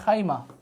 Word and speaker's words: খাইমা: রাস আল খাইয়াম বা খাইমা এটাকে আমরা শুধুমাত্র খাইমা উচ্চারণটা বলতে পারেন খাইমা খাইমা তাহলে একটা হচ্ছে ফুজাইয়া